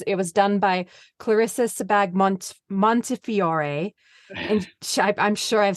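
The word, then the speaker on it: Sebag-Montefiore: the New York Times and I hope I pronounced her name right it was it was done by Clarissa sebag Montefiore and I'm sure I've said that wrong so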